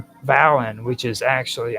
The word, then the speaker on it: Dvalinn: The name Valin, which is actually, I'm having a hard time saying it because it's spelled Dvalinn. So I'm just going to be calling it Valin.